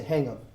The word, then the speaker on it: hang of: I don't really pronounce hang of. I say hang of. Hang of. Okay, so I combine the two together.